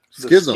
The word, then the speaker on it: Schism: Schism.